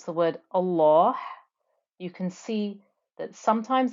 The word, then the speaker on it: Allah: that Lem in the word Allah with a kesra then the lamb stays light and the two count stretch the hidden two count stretch also remains light so please go over